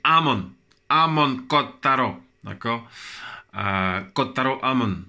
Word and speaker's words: Amon: J'ai dit Hamon, c'est pas Hamon, c'est Amon.